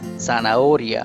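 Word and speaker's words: zanahoria: is as i said h is always silent so the pronunciation is sanaoria we are not pronouncing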